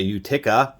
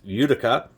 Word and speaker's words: Utica: I always used to say Utica, but apparently it's Utica.